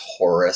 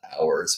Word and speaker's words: Horus: you might know as Horus. Some pronounce that hours, by the way.